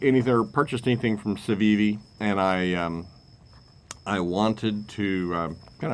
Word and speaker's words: Civivi: But the other day I saw online a knife from Civivi. I think that's how you pronounce it. Civivi, yep.